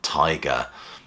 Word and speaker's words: Teiger: And the first album is this one by the band Tiger. The album is actually called Tiger as well. It's spelled T-E-I-G-E-R, but I presume it's pronounced like the, bitey, stripy thing.